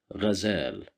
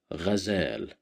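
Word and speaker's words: غزال: Here we have Fatha at the top of the letter Ghain, so we will pronounce it as Ghazal, Ghazal, Ghazal, which means a deer, as you see.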